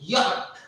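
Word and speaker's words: Jot: We pronounce it as yacht. Y-O-H-T. yacht, yacht. Okay, the sound of ya comes. Sound of ya comes. In German, when we pronounce this letter, we don't pronounce ja, we pronounce ya.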